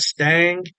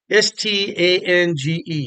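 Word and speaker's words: Stange: down uh glass I'm not sure how you pronounce that Stang it's a s-t-a-n-g-e Stang I believe is how you pronounce that glassware but you want you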